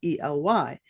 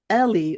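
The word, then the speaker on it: Ely: also pronounced El so the correct pronunciation of my name is El but it's sort of changed to Ellie over the years and I never added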